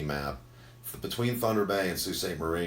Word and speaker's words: Sault Ste. Marie: I am going to pronounce this correctly, but it's going to look wrong. So it's Sault Ste. Marie.